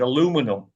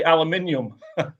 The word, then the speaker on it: aluminium: drums and you said aluminum. Yes, sir. Yeah. Well, we say aluminium. You know, the Americans say aluminum. We say aluminium.